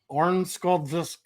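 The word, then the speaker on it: Örnsköldsvik: was also born in Ornskoldvisk. They went out. For some reason, I just turned it Russian. When you pronounce that, you do it as if like somebody's choking you.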